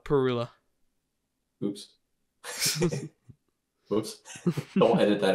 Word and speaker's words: Parula: Northern Parula. Perula? Oof. Oh yeah, they're Perula. hemlock. That's right. I'll never I guarantee you'll never get that in my backyard, but is it pronounced Parula or Perula? Perula.